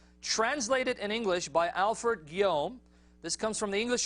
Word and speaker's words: Guillaume: All right, French last name, man. I don't know. It's spelled Guillaume, but he says Guillaume. All right, Alfred Guillaume translated Sirat Rasulullah.